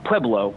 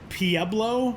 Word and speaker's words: Pueblo: They didn't I say, but there there is a there's like an old guard of Colorado people that pronounces it PBLO, which I think is the dumbest thing I've ever heard in my life.